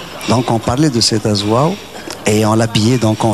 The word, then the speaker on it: Azwaw: veut dire danse, mais je vais vous laisser prononcer, parce que c'est le W de la fin qui m'ennuie un peu. Azouaou. Azouaou, on dit.